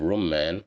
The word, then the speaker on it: رمان: Here we have Rumman, which means pomegranate, and here we have Dhamma, so that's why we pronounce it as Ru, Rumman.